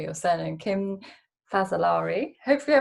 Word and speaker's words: Fazzolari: So just to kick it off, so sorry, I didn't even say your surname, Kim Fazzolari. Hopefully I pronounced that right.